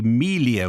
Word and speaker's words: Melia: said her name which should be Melia with a long e like Celia okay my mistake to